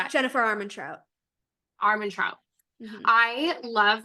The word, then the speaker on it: Armentrout: J Laws, like Armandots? How do you say that? Jennifer Armentrout. Armentrout.